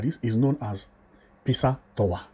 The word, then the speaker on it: Pisa: You know the pizza we eat? That is almost how it is called. They use somehow design of Pisa, build a house, and it is like that, although it is spelled as P-I-S-A, Tower, Italy. If you Google that, you